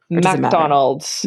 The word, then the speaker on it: MacDonald: and by the way do you pronounce it that way MacDonald or McDonald McDonald's McDonald okay old Highland Way yes I love it